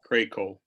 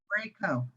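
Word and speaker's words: Kraków: It's long A, long O. Craco. Krakow.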